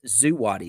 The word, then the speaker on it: Zawadi: And how it's pronounced is Zuwadi, Zuwadi.